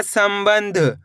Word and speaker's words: संबंध: देखिए किस तरीके से सम बंध ध तो मिलके बन जाएगा संबंध।